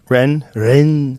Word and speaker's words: Rennes: Rennes, France.